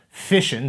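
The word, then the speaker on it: Fission: Bolton while both were on staff at fish and university fishin spelled like the process of splitting atoms but sounds like the process of expanding your consumable seafood collection because this show likes fish puns and this show likes fish puns dr.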